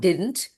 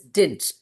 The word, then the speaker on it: didn't: It is not didn't, it is didn't. D is silent.